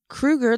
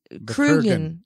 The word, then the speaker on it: Kurgan: Just say Kruger. Kruger? That's not his Kurgan. name. Kurgan. Kurgan.